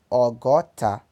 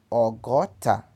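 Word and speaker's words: ọgọta: Para pronunciar 60, que é 20 vezes 3, pronuncia-se Ogota. Ogota.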